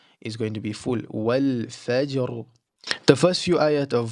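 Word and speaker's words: والفجر: So the ra gets the fullness at the end of the word, but the jim with its qalqala are going to be empty mouth.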